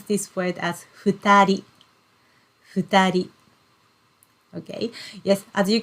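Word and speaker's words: 二人: then person human the two people and we pronounce this word as futari futari okay yes as you can see even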